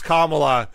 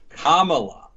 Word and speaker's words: Kamala: you go to youtube in Google uh it's Kamala you'll get the proper pronunciation Kamala Kamala Harris yeah I guess the biggest problem